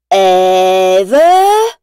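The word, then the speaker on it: Ève: Le petit robot blanc s'appelle Eve et Wall-E prononce son nom en allongeant toutes les lettres. Eve!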